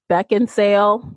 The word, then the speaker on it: Beckinsale: so I picked Kate Beckinsale I think I mispronounced her name Beckinsale there we go yeah there's no D in there um so I just